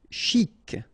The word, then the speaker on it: chic: Chic. Okay, you pronounce the final C and then CH together. Sh. Chic.